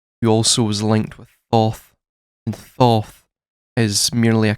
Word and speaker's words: Thoth: W is in the phonetic is typically pronounced in Kemetic as a U sound. Thus, tut or twat, right? Thoth, as we would call it in the anglicised version of it.